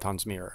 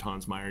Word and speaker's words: Tonsmeire: I hope I've heard tons mirror yes I had an uncle who stopped pronouncing it Hans Meyer just went with tons Mir because so many people said it that way he just gave up